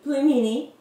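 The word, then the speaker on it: пельмени: hahaha A) Burger B) pizza C) Pelmeni or D) Salad what is? how did i say it..? it's pelmeni thats how you say it hahahahahah salad yeah haha Misha Misha it's salad hahahah !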